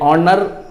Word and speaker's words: honour: ये ऑनर क्या कहता है, HONOUR होता है, HONOUR ऑनर।